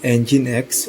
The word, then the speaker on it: Nginx: While it too can operate as a standard web server, the Nginx, pronounced Nginx web server, is better known as a reverse proxy server.